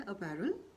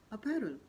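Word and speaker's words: apparel: इसलिए मैं सिर्फ सही उच्चारण ही यहाँ बोल रही हूँ। तो आगे चलते हैं। अगला शब्द है अपैरल, यानी कि पोशाक। अपैरल।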